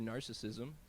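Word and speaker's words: Gnarcissism: This song is called "Living Better Through Narcissism," and it's spelled with a G on narcissism for gnarly.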